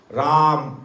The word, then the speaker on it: राम: राम राम रा बोलते ही खुलता है और म बोलते ही, इसलिए हमें बराबर राम नाम का उच्चारण करना, पूरा राम बोला राम राम राम राम, इस प्रकार इसका रटन करना है।